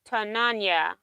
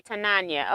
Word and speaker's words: Tananya: Pronounce Tananya, but call me. Okay, Tananya.